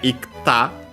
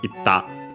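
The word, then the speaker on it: いった: So yeah, ikta, difficult to pronounce, and so became simply doubling of the following consonant, itta.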